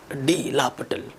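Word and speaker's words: L'Hôpital: Method को लिखते हैं DL हॉस्पिटल, लेकिन प्रोनाउंस करते हैं DL, डी लापिटल, ऐसे प्रोनाउंस करते हैं, ठीक है।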